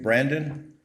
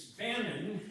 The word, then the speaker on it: Bannon: Next, I have Brandon. Hope I said it right. Yeah, it's Bannon.